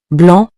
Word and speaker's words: blanc: Next is blanc, which means white. Keep in mind that the final C is silent. For example, un nuage blanc means a white cloud.